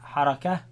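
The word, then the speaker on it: حركة: Pronounce it as Ha, Harakah, right?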